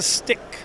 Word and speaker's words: Pstik: called this is the stick it's it's uh p s i k p ik but it's a silent p why'd you name it